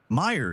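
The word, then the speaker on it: Mayer: The confusion comes from the pronunciation. Meer is how it sounds. And for years, people sang it that way, reinforcing the incorrect spelling in their minds.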